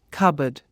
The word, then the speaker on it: cupboard: word cupboard is pronounced cupboard don't pronounce the P the same with the